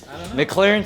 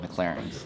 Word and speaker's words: McLaren: McLaren 675 LT Spider.